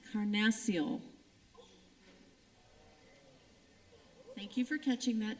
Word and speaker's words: carnassial: being approached player judge I was told I mispronounced it Karn Maciel thank you for catching